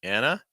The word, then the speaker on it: Anna: next one Anna Anna I know a lot of other countries will be pronouncing as Anna but in the US will be Anna for an that the a sound plus that n like an an Anna Anna and our